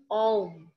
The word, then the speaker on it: ওম: যদি আমরা এমনি মুখে বলি সেটা হচ্ছে অম, ঠিক আছে?